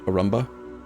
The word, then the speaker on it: Arumba: stuff to realize that my own internal head cannon for how to pronounce my own name is actually wrong and it probably should be pronounced Arumba, but I wrote it and spelled it the way that I did. And in my head, I thought it sound like a Roomba.